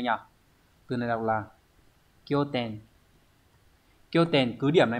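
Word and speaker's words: 拠点: Từ này đọc là kyo ten.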